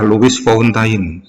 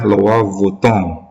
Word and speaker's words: Louis Vuitton: Kalau orang baca adalah Louis Vuitton. Nah, padahal bacanya aslinya adalah Louis Vuitton.